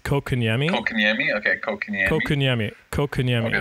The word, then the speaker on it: Kotkaniemi: I think the way I've been hearing it is Kotkaniemi.